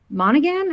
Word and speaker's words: Monaghan: But yes, it came out in 2005, stars Robert Downey Jr., Val Kilmer, and Michelle Monaghan, I think is how you pronounce her name. Yeah, Monahan, Um, Monahan.